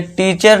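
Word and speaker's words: teacher: इसे देखिए टीचर नहीं, इसे टीचर मत पढ़ना, ठीक है दोस्तों। इसका करेक्ट प्रोनाउंसिएशन दोस्तों आप समझते थे कि क्या है, टीचर, लेकिन टीचर नहीं है, टीचर नहीं है, इसका करेक्ट प्रोनाउंसिएशन क्या है, टीचर, टीचर, आ की साउंड आपको देना है, टीचर, फादर, टीचर, ठीक है दोस्तों।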